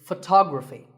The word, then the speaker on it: photography: second syllable so development our next word is photography we say photograph but photography so the first syllable becomes and the stress goes to the second syllable ography so photography in the same way